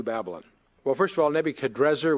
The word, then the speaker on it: Nebuchadrezzar: Well, first of all, Nebuchadrezzar, which your Bible probably has, is actually probably the more accurate pronunciation, but we're also used to the Nebuchadnezzar, which the Hebraized transliteration leads us to.